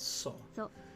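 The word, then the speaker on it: そ: up a single syllable you pronounce this as saw so let's practice writing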